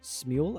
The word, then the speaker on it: Smule: I'm correct me wrong, is it Smule, I believe it's pronounced? Yes, Okay. Smeel.